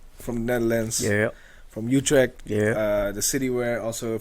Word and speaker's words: Utrecht: a special guest here all the way from Utrecht. That's how you say it? Utrecht.